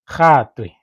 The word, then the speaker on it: Gatwe: Gatwe. To pronounce, right? Gatwe. Yeah, your G's, you have to make sure that you emphasize on those G's like that's yeah, it's